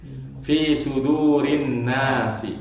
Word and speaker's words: fi sudurin: Fi sudurin nasi ya. Fi sudurin nasi ya. Ada huruf jar fi maka dibacanya suduri enggak fi suduron atau sudurun ya, tapi fi sudurin nas.